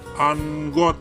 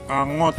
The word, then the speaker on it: angot: Anggot sinonimnya adalah A. Kumat, B. Seperti, C. Kacau, D. Andai, E. Atau. Jawabannya adalah A. Kumat. Jadi angot nih ya bacanya.